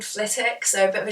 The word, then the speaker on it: Flitwick: And so we'd go to Flitwick Wood. Harry Potter fans, by the way, the W is silent, just put that out there.